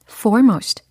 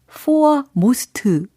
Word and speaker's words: foremost: F O R E for M O most 오 정답 빨리 말씀을 해 보시면 foremost foremost foremost 이렇게 하시면 되는 거예요. for most 이게 아니고 forem most forem most forem most 요렇게 하시면 가장 중요한 맨 앞에 위치한이라는 뜻이 전달이 됩니다.